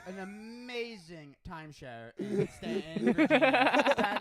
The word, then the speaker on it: Staunton: We're from Stanton, Virginia, but it's spelled Staunton. So everyone that's out of town thinks it's Staunton, right?